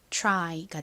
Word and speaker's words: try: 이 단어에서 Y가 I 소리로 쓰여서 연결하면 try가 됩니다. try. 살짝 치 소리가 들리실 텐데요. 이 T 뒤에 R이 오는 경우는 이 T의 T 소리에 살짝 치읓이 가미된 듯한 발음이 나요. 그래서 try, try 이렇게 발음이 됩니다.